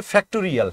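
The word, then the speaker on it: factorial: কথাটা একটু মনে রাখো এইটার উচ্চারণটা হচ্ছে ফ্যাক্টরিয়াল হ্যাঁ ফ্যাক্টরিয়াল তো এই ফ্যাক্টরিয়াল কে ভাঙ্গানোর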